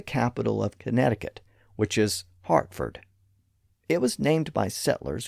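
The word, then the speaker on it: Hertford: The English town name is spelled with an E because it was once pronounced as Herford, but it had come to be pronounced as Hartford due to this alternate pronunciation.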